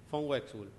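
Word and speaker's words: von Uexküll: mesetas y en otros textos también recurren a Von wex hul se pronuncia así Von wul Por qué recurren Y porque es un tipo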